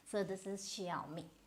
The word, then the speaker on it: Xiaomi: You have to speak this I. This is Xiaomi. And so this became popular with the Kapil Sharma show because it was one of the sponsors.